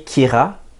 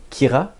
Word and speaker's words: Kira: C'est comme la dérivé de la prononciation de killer en japonais. Des fois, il prononce des mots anglais, mais à la japonaise.